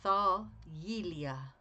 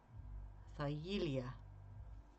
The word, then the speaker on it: Thargelia: Thargelia. Thargelia is how you pronounce it, with the emphasis on the ye part. Thargelia.